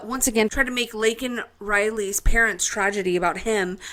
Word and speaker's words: Laken: say her name properly he said Lincoln Riley her name is Laken and then he tried